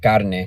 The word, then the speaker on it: Carne: I mean, in Spanish it's pronounced Carne.